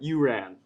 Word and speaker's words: Uran: Because, I haven't heard it as much these days, but it often does get mispronounced. Sure, yeah. But Uran.